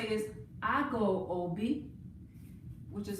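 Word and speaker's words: ago: the first thing you want to say is i go ob which is spelled a g o i go ob i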